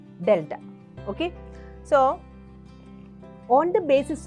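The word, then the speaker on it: Δ: 1 2 etcetera and predominantly this is to be pronounced as delta okay so on the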